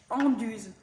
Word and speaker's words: Anduze: And I'm here just to tell you hello, and that we call the village here Anduze.